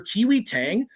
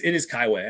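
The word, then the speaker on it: Kai-Wei Teng: I mispronounced that 100 times with the Kai. No, it is Kaiway.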